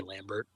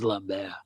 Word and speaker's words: Lambert: If I want to goof around, I'll say Lambert. It's like everyone seriously it's Lambbear.